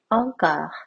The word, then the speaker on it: encore: 뜻할 때 우리가 말하는 한국에서 말하는 앙코르 혹은 앵콜로 말하죠. 원래 발음은 encore.